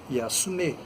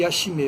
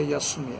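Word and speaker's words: 休め: Eu falei: não, a pronúncia correta é Yasume. Aí ele disse: não, é porque falam aqui Yashime. Eu falei: não, o certo é Yasume.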